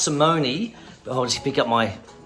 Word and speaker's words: Simone: It's pronounced Simone. I'll just pick up my thingy bob here. Turn this down. Okay, so it's pronounced Simone, but it's Simone Jardim.